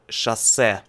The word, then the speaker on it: шоссе: And highway is шоссе. Шоссе. Шоссе. Шоссе. It means шоссе.